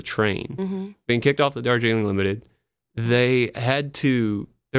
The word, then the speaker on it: Darjeeling: Limited or shielding no Darjeeling apparently is the correct way to say you're saying it right the whole time it's me it just